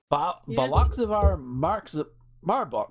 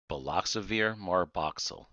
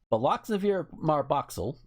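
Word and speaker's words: Baloxavir marboxil: Baloxivar Marbach. I'm gonna click on it so I can know how to fucking pronounce the damn thing. Here this is. Baloxavir marboxyl. Baloxavir marboxyl, antiviral drug that's taken orally in the treatment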